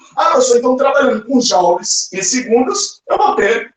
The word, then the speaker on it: joule: Olha lá, se escreve joule, né? Ó, mas se pronuncia joules.